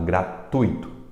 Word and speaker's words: gratuito: é o que candidato gratuito tui tui tui a sílaba mais forte alto e é gratuito não é gratuito e